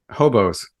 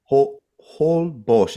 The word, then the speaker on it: Holbox: Hobos. Holbox. It's spelled with an X, like Holbox.